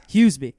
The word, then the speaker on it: Huseby: How do you pronounce the last name? How do you say it correctly? Huseby.